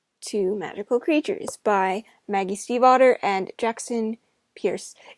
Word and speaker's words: Stiefvater: I know I'm definitely pronouncing Stiefvater correctly because I've looked that up, I know.